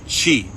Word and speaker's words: Qi: And they try to stimulate these points and access your chee, spelled Qi, pronounced chi.